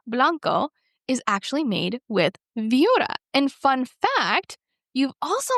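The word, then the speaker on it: Viura: The next one is called Viora.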